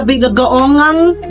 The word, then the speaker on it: Binagoong: That's the binagoong pork belly. Can you pronounce it correctly?